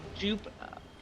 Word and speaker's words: Jupe: Pronounced like scoop.